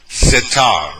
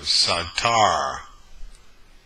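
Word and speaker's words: סתר: hide and conceal okay satar right here let me get the red one right here satar okay not SAT but me pronounce it right so Yeshua is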